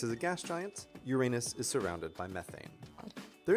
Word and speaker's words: Uranus: The alternative pronunciation of the name, which goes Uranus. And most scientists in public roles do use this pronunciation.